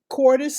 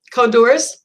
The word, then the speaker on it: Codorus: You can find her story, 480 Cordis Street, Codorus, Codorus book, 1 and 2 on her website.